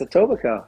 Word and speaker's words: Etobicoke: I'm pronouncing it properly is it a Toby cope yeah it's Etobicoke very good okay yeah oh in